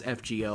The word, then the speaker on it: FGO: Let me just go back to saying fake order. Fake order 2025 8th anniversary. The correct way of saying it is FGO. I acknowledge that. I just like saying it wrong.